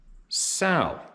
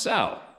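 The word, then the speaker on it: Saurino: Dear Steve, last name pronounced Sal, as in a female pig, LOL. Really, your last name's spelled S-A-U-R-I-N-O, pronounced Sal.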